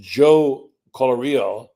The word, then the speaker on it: Joe Colorio: They acquired Highfield MRI, and Joe Colorio is how you pronounce it, I'm told, started Highfield in 1997, and Mr.